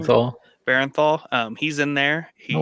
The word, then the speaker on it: Bernthal: Barenthal.